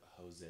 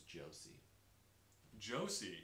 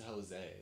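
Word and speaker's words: José: you might not know i had someone pronounce the word jose as josie josie and i was like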